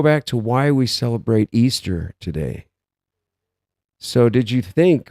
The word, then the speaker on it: Ishtar: animal of Easter and that's because Ishtar is pronounced Easter and when with the the date that we're